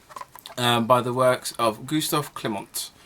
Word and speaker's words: Klimt: the works of Gustav Klimt I think that's a silent T I did check with